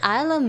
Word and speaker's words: isla: after all in spanish islam means my brain can't process that it's pronounced isla and no isla isla isla is island but you just gotta remember how island is pronounced i land isla i think the only